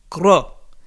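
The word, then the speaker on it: Grød: And I went to a place called Gro, G-R-O-D. They don't pronounce the D, Gro.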